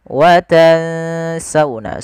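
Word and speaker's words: وَتَنسَوْنَ: Watansuna watansauna.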